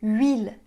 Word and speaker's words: huile: Ok, alors les H des mots huile, huître et huit, ne se prononcent pas.